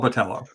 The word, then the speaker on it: Botello: I think that his name rhymes with Jello, he says. The last name? So it's Paul Botello.